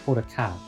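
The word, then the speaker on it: Hodaka: Haruko is wait no, it's not Haruko. It's Horaka.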